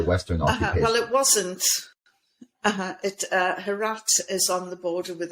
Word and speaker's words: Herat: that 50% of the female suicides were in Herat province. Is that how you pronounce it?